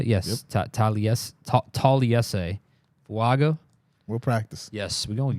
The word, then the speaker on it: Taliese Fuaga: Taliese Fuaga.